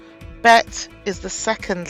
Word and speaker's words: Bet: Bet is the second letter. When it has a dagesh, which is a dot inside the letter, it is pronounced as B, as in boy or bat.